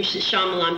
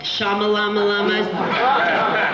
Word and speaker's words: Shyamalan: Not only is the Y silent, but you can remember his name Shyamalan because it's like a doo-wop song. Shyamalan. So you'll always remember now his name is Night Shyamalan.